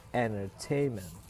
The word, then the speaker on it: entertainment: lihat ada yang namanya primary stress atau the main stress in the words on the third syllable in entertainment. Jadi primary stresnya itu ada di silabel ketiga ya. Nah, sementara secondary stressnya itu ada pada yang di awal tuh, entertainment.